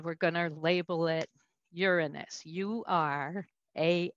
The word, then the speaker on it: Uranus: uranus as a planet i prefer to pronounce it uranus so everybody grab your pencil believe it or not uranus so all the way